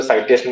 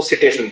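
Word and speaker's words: citation: Site करना, CIT site करना, और उसका इंडेक्स है जो साइटेशन इंडेक्स अपने बोलेंगे CITATI, लेकिन उसको सिटेशन बोलते हैं, सिटेशन इंडेक्स।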